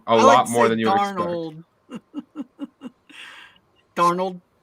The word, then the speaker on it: Darnold: lot more than you darnold how is just like Arnold with a d at the beginning I I don't know